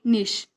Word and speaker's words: niche: The pronunciation of this word may be different according to different accent, but you can call it niche.